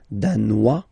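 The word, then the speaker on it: danois: Denmar Dan Dan okay insist on that Dan don't pronounce the final s Dan here you pronounce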